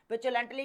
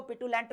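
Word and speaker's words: petulantly: पिचुलेंटली का मतलब होता है यहां पर। अब कोई इसको पिटुलेंट भी बोलता है। लेकिन पिचुलेंटली जो है हम यहां पर इसको प्रोनाउंस करने वाले हैं।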